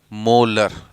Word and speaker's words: molar: भी लिखते हैं, और जिसे प्रोनाउंस करते हैं क्या हम लोग? मोलर, है ना, MOLAR। तो प्रोनाउंस करते हैं हम लोग इसे मोलर।